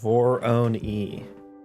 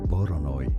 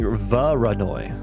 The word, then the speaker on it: Voronoi: I used to think Voronoi was pronounced Vor-own-e. I actually don't know if I'm pronouncing it right.